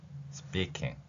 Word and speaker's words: speaking: S 뒤에 P는 우리말의 쌍비읍 소리가 납니다. 자, 이제 의문 원리까지 적용했죠. 어떤 소리의 변화 원리라는 것입니다. S 뒤에 P가 있을 때는 쌍비읍 소리. 우리말에서 실라 이 발음이 신라가 아니라 실라 리을 받침이 되는 것처럼 이러한 변화, 음운에서 소리에서의 변화가 발생하는 경우가 있죠. 영어에서는 S 뒤에 P 발음, 이 발음은 우리말 쌍비읍에 가깝습니다.